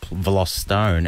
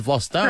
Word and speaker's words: Vlostone: He was asked for the correct pronunciation of his name, and he said Vlostone, and that's why it's, you know, if someone says, my name is Vlostone, true. Nick Vlostone, well, then call it that.